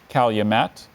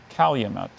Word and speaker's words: calumet: given here okay Calumet can you repeat both pronunciations please Calumet and Calumet Calumet c a l u m e t